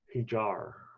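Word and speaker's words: Híjar: Usually the J is silent or H sound, but I don't. Hijar.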